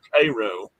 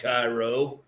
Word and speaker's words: Cairo: And that is how you say that, by the way. It's spelled Cairo, but it ain't. Is. But it ain't. It ain't Cairo. Cairo. It's Cairo. Cairo, yeah.